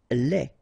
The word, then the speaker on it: lait: Lait. Un lait. Okay, so the only difference is the final thing here, D, you don't pronounce it, T, you don't pronounce it, so phonetically you only have this le.